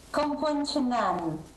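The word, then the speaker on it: Kampong Chhnang: Lei in questo momento si trova in una città, spero di pronunciarla bene, Kompongchang. Si pronuncia così, Suor Mariangela? Kompongchang.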